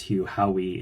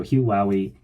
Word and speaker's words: Hugh Howey: I found out, I said his name was Hugh Howey in a review, in the review that I did of Wool, but I found out it's actually pronounced Wowie. So Hugh Howey, there are 3 books in the Silo series,